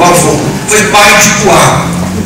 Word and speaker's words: Puá: Primeiro ele foi pai, ou melhor, Dodô, o avô, foi pai de Puá. Puá em hebraico, essa pronúncia que em português não seja das melhores, parece até choro de criança, de recém-nascido, Puá.